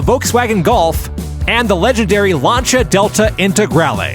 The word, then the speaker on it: Lancia: legendary lancha Delta integral are you sure it's not pronounced Lancia look it up tuty look it up I'm just messing with you I know everyone tries to correct us on that pronunciation hey I don't speak Italian so my pronunciation isn't perfect but it's not pronounced Lano welcome back to the